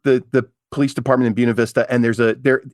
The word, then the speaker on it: Buena Vista: Except in Buena Vista, Virginia, they pronounce it like Buick.